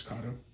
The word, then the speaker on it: Kato: We can still be friends, but just FYI, it's Kato.